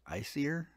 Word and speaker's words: Aesir: Basically, what you do, we create a kingdom, and this is pronounced Aesir.